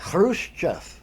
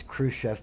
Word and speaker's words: Khrushchev: whatever I want and here's what happened Nikita Khrushchev which is how you say his name everybody says Khrushchev because the Russian X ha ha some people